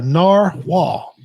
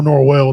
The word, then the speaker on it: narwhal: That was the pimp's pet, the narwhal. That's how it's. I looked up the pronunciation. That's how I got that right. Or Norwell, depending on where you're from.